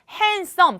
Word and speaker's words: handsome: her boyfriend is 잘생긴 handsome 발음은 handsome인데 뭐가 빠졌어요? 발음에 D가 발음 안 나됐죠? handsome.